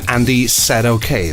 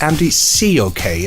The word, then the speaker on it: Andy Said Okay: I released my first vinyl back in 1987 under the name Andy Said Okay, but as it turned out, Americans pronounce it Andy C OK, and that magic disappeared.